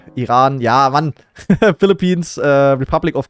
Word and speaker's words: Iran: But isn't that how they pronounce Iran in English? Iron. Not iron. It's Iran.